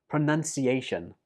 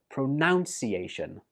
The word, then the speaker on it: pronunciation: Pronunciation. I hear many students, and actually some native speakers too, saying this word like pronunciation. But that's wrong. The second syllable in this word is none, not noun.